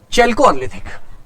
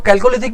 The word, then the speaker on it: चैल्कोलिथिक: इसको मैं चैल्कोलिथिक, कुछ लोग इसको कैल्कोलिथिक भी प्रोनाउंस करते हैं, लेकिन वो प्रोनाउंस करने का अपना अपना तरीका है।